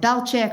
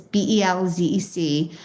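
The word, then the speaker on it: Bełżec: People pronounce it differently. Michael Berenbaum calls it Belchik. Other people calls it Belzec, but it's Belzec.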